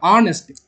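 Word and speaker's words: honest: ஹானஸ்ட்டுங்கிற இது பண்ணுறோம் ஆனஸ்ட். ஸோ ஆனஸ்ட்ன்றது வரும் ஆன். எப்பவுமே ப்ரொனவுன்ஸ் பண்ணுங்க, தப்பே வராது.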